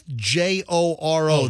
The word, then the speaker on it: Joro: It's Joro.